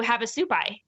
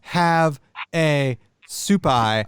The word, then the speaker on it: Havasupai: Havasupai, Havasupai. Yeah, you have to look at photos. I thought it was like have a supai, like some sort of soup.